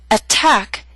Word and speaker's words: attack: through these three examples attack is a word with two syllables stress is on the second attack so T although in the middle of the word is at the beginning of a stressed syllable so we have a true T attack appetizer and secretary are